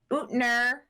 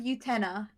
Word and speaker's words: Utena: Utner. Pretty sure it's not how they say the name. I've heard Utena as the pronunciation, but Una was how they pronounced it in the dub.